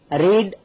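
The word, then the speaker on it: read: இன்னொன்னு ரீடுங்கன்ற வார்த்தையை பாருங்க இதை ரீட் ரெட் ரெட்னு உச்சரிக்கணும் உச்சரிப்பு ரெட் ரெட்ன்னு வரும் ஆனா ஸ்பெல்லிங் அரி ஏடி அரி ஏடி தான் இப்போ லிஸ்ட்ல இருக்க எல்லா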